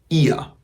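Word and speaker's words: ihr: que están en grupo voy a decir ia ia ia y también esa r suena nuevamente como una a ia ia o sea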